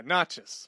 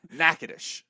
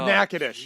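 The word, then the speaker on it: Natchitoches: went to college in n a t c h t o c h s yeah Naas right no no Nantucket closer nackadish oh nackadish yes yes yes yes see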